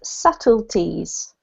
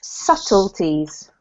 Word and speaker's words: subtleties: um this one is subtleties y so it's a silent B so ignore the B and it's subtleties subtleties yes perfect this